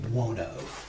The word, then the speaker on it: Buono: Uh Dwayne Buono.